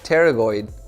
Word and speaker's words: pterygoid: muscle inside here called the medial pterygoid, spelled with a P, so it looks weird.